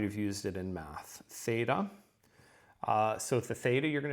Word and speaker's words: theta: Theta is going to have the th sound to it, and it's like our English TH, where we have to do it with two letters. They can get it done with just one.